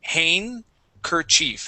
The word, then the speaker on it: handkerchief: is handkerchief okay handkerchief so instead of pronouncing that hand we the D here we say hankerchief handkerchief don't pronounce the d nope no D handkerchief uhhuh and that's